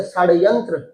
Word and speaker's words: षड्यंत्र: इसको बोलते हुए जीभ को मोड़ देना, इसलिए इसको मूर्धन्य स्वर कहते हैं। इसे तालव्य वर्ण है और ये मूर्धन्य वर्ण है, तो इसको उच्चारण करते हैं मुड़ दोगे आप, तो जैसे षड्यंत्र, बोलो षड्यंत्र, ऐसे जी षड्यंत्र, ऐसे नहीं, षड्यंत्र ऐसे ऊपर का, सलजम, ऊपर के लिए आपको बोलना पड़ेगा इसको।